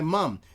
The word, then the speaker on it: mum: In America, it's mom or ma. But bum, so that way, or mum, so it rhymes with bum.